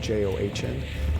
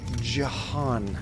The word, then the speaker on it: John: fun of it because everybody always spells my name j-o-h-n like my name's john not jahan come on okay now